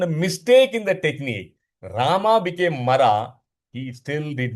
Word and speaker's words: Rama: He was so illiterate when Narad Muni told him, Oh, Valmiki, please chant Lord Rama's name. He couldn't pronounce Rama. He started chanting it as Mara, Mara, Mara, Mara, Mara.